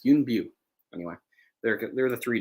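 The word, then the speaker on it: Yuen Biao: say i've talked about him before and i've mispronounced his name it's calling him yin bao it's not bow it's b it's yoon view anyway there are the three dragons they they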